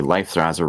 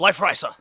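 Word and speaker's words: Leifthrasir: Much like Odin Sphere with the Life Thraser remake. Excuse you. It's pronounced life riser.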